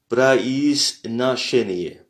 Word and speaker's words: произношение: On voit que chez est en lettres majuscules puisque c'est là où se situe l'accent.